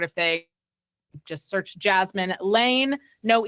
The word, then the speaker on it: Laine: Just search Jasmin Laine, no E at the end of Jasmin, and Laine spelt like the former Winnipeg Jets player, Patrick Laine. And yeah, it's actually pronounced Lane, not Line.